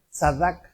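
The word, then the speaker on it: צדק: está hecho griego entonces la raíz del Antiguo se pronuncia sadc y en el hebreo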